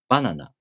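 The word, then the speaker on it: バナナ: For example, banana. The first molar starts high in pitch, so the next molar must be low in pitch. Nihon. The first molar starts low in pitch, so the next molar must be high in pitch.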